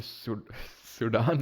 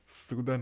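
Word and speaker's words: Sudan: पहले पता चला कि ये सुडान नहीं होता सूदन होता है। इसको सूदन प्रोनाउंस करते हैं।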